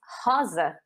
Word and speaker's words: rosa: or rose in english but in portuguese it's haza so that's a common mistake people trying to make the same sound because maybe the word is spelled exactly the same as in spanish and it's fun to